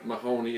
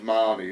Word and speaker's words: Mahoney: My dad's name is Mahoney, it's Mahoney, but it's pronounced Mahoney. Do you regret any of it?